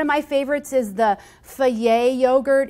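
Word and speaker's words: Fage: in recipes one of my favorites is the foie yogurt it's pronounced f-a-g-e but it makes a great substitute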